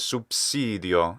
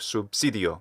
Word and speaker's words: subsidio: is one vowel length he says supsidio instead of subsidio it's a short e